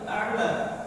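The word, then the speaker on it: الأعلى: Kemudian beliau sujud dan membaca subhana rabbiyal a'la. Subhana rabbiyal a'la. Subhana rabbial a'la. Ala pertama hamzah. Yang kedua apa? Ain. Ya. Rabbial aam. Aam. Ya. Itu cara membacanya.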